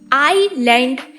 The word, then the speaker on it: island: हम पागलों की तरह कहते रहते हैं कि आइलैंड में एस साइलेंट है।